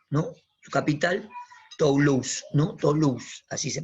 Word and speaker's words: Toulouse: Toulouse, así se pronuncia, ¿no?